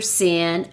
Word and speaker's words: Cyn: Sin is spelled CYN, OBGYN.